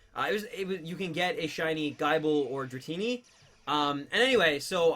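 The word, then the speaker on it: Gible: Yeah, I pronounce it Guyball. I know some people pronounce it Gibble. I pronounce it Gibble. Like, because it's spelled like Bible, but with a G instead of a B.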